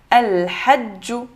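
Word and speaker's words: الحجُّ: Donc, ça fait el-ha, ju. Donc, ici, on a shadda avec le dhamma. El-hajju.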